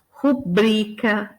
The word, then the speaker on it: rubrica: E aí a gente tem alguns casos, só para ficar claro onde é a sílaba tônica. Então, filantropo, ibero, ínterim, libido, Lúcifer, misantropo, ômega, pudico, rubrica e ruim, né?